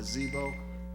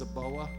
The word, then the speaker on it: Zibo: I think the last thing I want to talk about briefly is, as you know, I'll be going to Zibo. It's actually pronounced Zaboa, so I'm trying to get over in China.